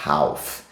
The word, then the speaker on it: half: e não é Half a pronúncia não é Half esse l não tem som de nada é Half Ok então